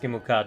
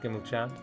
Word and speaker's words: Gimelkhad: Um, I It is pronounced Gimelkhad, I'm afraid, not Gimelchad.